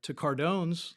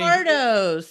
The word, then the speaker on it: Cardo's: But I went to Cardone's last week and got a pizza. Okay. Did I say it right? No, I was just trying to think where that is. Here. I was saying Cardo's.